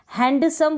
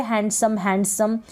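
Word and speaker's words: handsome: Next है, हैंडसम बोलते हैं तो गलत हो जाता है प्रोनाउंसिएशन, हैंडसम बोलते हैं, हैंडसम, डी यहाँ पर साइलेंट रहता है। अभी तक आप बोल रहे होंगे हैंडसम, लेकिन आप हैंडसम बोले, डी साइलेंट रखें।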